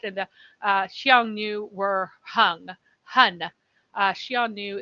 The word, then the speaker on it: Xiongnu: Xiongnu is just like the modern way of pronouncing this character. And the past, it was more like Hanu, but I don't know what the tone was then.